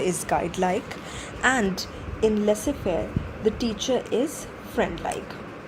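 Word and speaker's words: laissez-faire: Mis pronounced phrase people and usually end up pronouncing it as Laz fair but it is not lazes fair uh it is lesser Fair okay let's let's quickly understand the difference between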